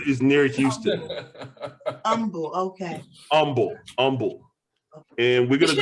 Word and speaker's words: Humble: yeah no it's pronounced humble texas humble texas the h is silent i don't i don't